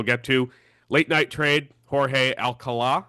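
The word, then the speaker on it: Jorge Alcalá: Last thing we'll get to, late night trade, Jorge Alcala, I believe is how you pronounce it based on the accent at the end.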